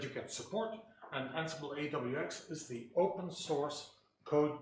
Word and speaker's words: AWX: Ansible AWX, by the way, that is the way it's pronounced. It's not AUX, it's AWX, is the what is officially called the upstream